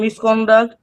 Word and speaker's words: misconduct: Okay then the first one explain in their plane is stress syable doctor is stress syable in misconduct uh con is stress syllable in important port is stress syable.